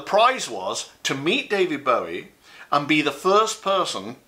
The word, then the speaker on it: Bowie: And it is pronounced Bowie, by the way. How do I know? Because he told me personally.